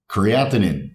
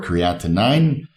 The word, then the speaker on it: creatinine: Creatinine. Now, I've heard a lot of different people say different pronunciations for this word, anything between creatinine to creatine, which is of course not correct.